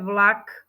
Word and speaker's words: vlak: Jakub namiesto b p v slove vlak by si mal počuť G vlak mešká Jakub spieva